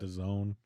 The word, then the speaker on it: DAZN: DAZN. That, and it's distributed by ESPN and that. DAZN, really? Yeah. Like calzone? That's how I've heard it pronounced.